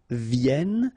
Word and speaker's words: viennent: And then ils viennent. So remember, as usual in French, when we talk about conjugation, E-N-T at the end, you don't pronounce it here.